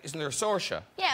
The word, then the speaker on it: Saoirse: there a sorcia yeah I don't think I actually pronounce my name the correct way I I say but a lot of people in Ireland say no it's actually I think you're saying that wrong so I don't know